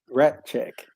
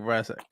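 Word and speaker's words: Rasczak: what is it right rat check it's spelled r-a-s c z a k I'm saying radic because I'm just what they're saying I thought it's r-a-t c h e say k e c k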